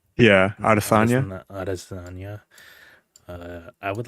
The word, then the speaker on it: Adesanya: Adesanya.